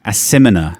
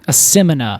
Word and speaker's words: Asimina: I'm going to offer, and this may fuck us up, but I'm going to offer an alternative pronunciation. Okay, please do. Asimina. Asimina.